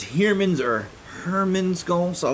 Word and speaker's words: Heermann's: but i can't recall that ever heard someone pronounced the name out loud like definitively so i'm not sure if it's humans or Herman's go so I would love to